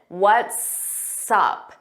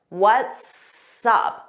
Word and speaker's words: what's up: what's up now first let's talk about the pronunciation what's up what's up so notice it sounds like one word and you hear that s on what's and up we put it in front of up what's up repeat after me what's up what's up work on that pronunciation because it's extremely important to sound like a native speaker let's review this example